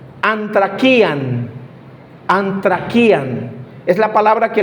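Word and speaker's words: ἀνθρακιά: Es una palabra muy específica que se pronuncia antraquian.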